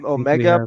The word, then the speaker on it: omega: I would pick Omega omega as well the right way to say it is omega according to the Greek but Omega final four